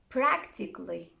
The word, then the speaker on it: practically: the letter a but if a word ends in i c a double l y most people don't pronounce it here are some examples try to copy them after me automatically basically logically practically surgically romantically so i'm not pronouncing romantically surgically cut the a out get rid of it but be careful